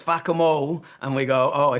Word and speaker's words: Fackham: Well, it doesn't work in my accent because I'm Irish. I say fakam hall and people go, "Why is that funny?" And then a cockney guy comes along, says fakamo.